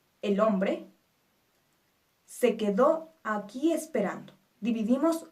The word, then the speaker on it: esperando: Esperando es una palabra grave. Nuestra sílaba tónica es ran, pero termina en vocal. Por lo tanto, no se acentúa.